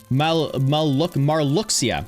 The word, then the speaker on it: Marluxia: The Kingdom Hearts series, and we're talking about Kingdom Hearts 2, and we're Malcusius? Is it Malcusius? M-A-L Malcusius Kingdom Hearts 2. No, not malicious. Marluxia.